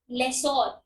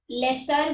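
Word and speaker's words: lessor: क्या बोलते हैं इसको, लेसोर। कुछ लोग इसको लेसर बोलते हैं, कुछ लोग इसको लेसोर बोलते हैं, अलग अलग प्रोनाउंसिएशंस है।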